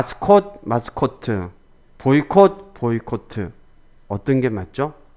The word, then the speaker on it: 보이콧: 마무리 지어야 되죠 그래서 보이 코트 보다는 보이콧 짧게 발음하고 짧게 끝내는 게 에 보이콧 게 좋습니다 보이콧을 너무 길어지면 예